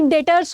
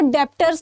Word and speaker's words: debtors: सबसे पहली बात तो ये डेटर्स होता है, इसको डेप्टर्स नहीं पढ़ना।